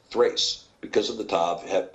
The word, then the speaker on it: Thrace: Terrace in the KJV but it's actually better pronounced Thrace Thrace because of the top have been a th